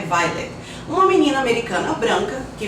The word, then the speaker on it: Violet: Minha Vida de Rata conta a história de Violet, mas a pronúncia é Violet.